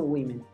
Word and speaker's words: women: That evening, all the women, ¿te acuerdas que yo te dije que en algunos audios o en algunos contextos podrías escuchar woman o women? Aquí te la pronuncian como women.